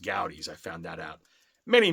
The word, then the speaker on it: Goudey: The other one, and there are two I always wanted as a kid, my same cousin talked about goodies. Now we found out they're pronounced gouties.